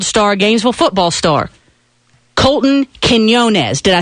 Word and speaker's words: Quinones: I am talking about Gainesville track and field star, Gainesville football star, Colton Quinones.